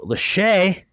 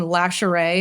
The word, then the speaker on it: Lashae: I've gotten everything. There's additional letters people throw in there. I've gotten Lashae. I'm there's definitely not an R. Lashae.